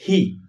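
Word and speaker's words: he: চতুর্থ সাবজেক্ট হি। উচ্চারণ আমরা লিখে দিচ্ছি এখানে হি।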